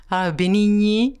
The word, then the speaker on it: Benigni: Parce qu'il y a le gne. Benigni, gne comme montagne. Alors, vous l'avez le son en français, mais il y a le double I qui gêne.